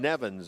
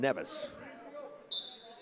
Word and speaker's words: Nevis: I called it St. Kitts and Nevins. It's St. Kitts and Nevis.